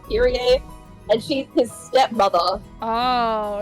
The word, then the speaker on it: Kyrie: I just read it as Kyrie in my head, but I think it's supposed to be pronounced Kira.